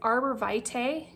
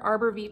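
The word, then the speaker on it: arborvitae: a tree oil is Arbor Vite or Arbor V it's however you want to pronounce it both are proper this comes from the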